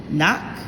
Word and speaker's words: knock: therefore this is not knock or as i used to say to remember when i was younger younger kanak has a silent k at the front choose the antonym for